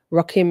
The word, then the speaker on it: Rakim: Ward said about isap Rocky ra Rakim roim rockim Myers I'll say it correctly too here we